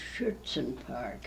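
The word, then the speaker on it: Schuetzen Park: had a park called chutzen Park pronounced shirts and park how do you spell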